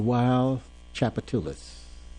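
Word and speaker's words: Wild Tchoupitoulas: Wild uh how do you pronounce it? The wild chapatulus. The wild chapatulus.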